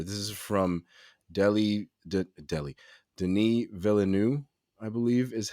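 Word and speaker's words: Denis Villeneuve: looking forward here this is from delhi delhi denis villeneux i believe is how it's pronounced the director of the upcoming of dune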